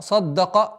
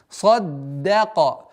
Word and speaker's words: صَدَّقَ: И поэтому даль при удвоении и произношении нужно максимально мягко произносить и удваивать. Васаддака. Саддака. Садда. Нет. Саддака.